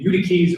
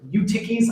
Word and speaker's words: Eutyches: to raise someone named Eutyches or Eutyches. I'm not sure which way you pronounce it. I think it's Eutyches, which would mean fortunate.